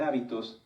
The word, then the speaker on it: hábito: muchas definiciones de hecho si cambiamos el acento de la palabra hábito lleva acento en la a se refiere a esto a nuestras costumbres y si lo cambiamos hacia el final es habitó que viene de habitar fíjense que como en